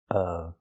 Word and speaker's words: of: I'm a fan of of. Remember the short sound like cup and up.